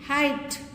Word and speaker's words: height: Height. Silent. Straight. Silence. In all these words you have GH silent.